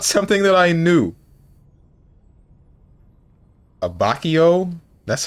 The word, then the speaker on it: Abbacchio: Italian for abbacchio?